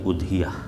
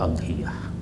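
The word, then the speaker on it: أضحية: Adhahi itu kan jamak dari udhiyah. Ada yang membacanya juga adhiyah. Tapi umumnya itu dibaca dengan mendhammakan hamzah. Tapi juga ada yang membacanya idhiyah.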